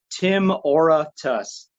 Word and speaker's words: Timoratus: it out okay okay so kind of like aura but yeah okay excel